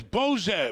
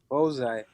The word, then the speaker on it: Bozai: His name is Bose. Bose? But How do you say your name? Bozai.